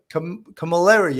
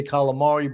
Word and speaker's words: Camilleri: Francesca Camilleri. I want to say it correctly. I wanted to say calamari, but it's Camilleri.